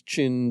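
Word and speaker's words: Qin: Cena derived from the name of the Chinese Chin Dynasty pronounced chin which was translated as Sin by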